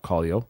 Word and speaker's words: Kaleo: did a reaction Ryan said it right oh Callo thank you the band from Iceland that did